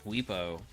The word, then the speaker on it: Bwipo: Watch Bwipo.